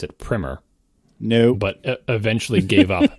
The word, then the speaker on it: Primer: people to pronounce it primmer no but eventually gave up because everybody everybody who saw that word pronounced it primer which is an alternate pronunciation of that word with a different meaning um and so the